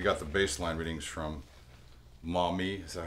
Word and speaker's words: Maumee: Now that we got the baseline readings from Maumee, is that how you say it?